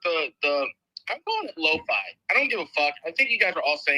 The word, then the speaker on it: LOFI: killed it with the the I'm calling it Loi I don't give a I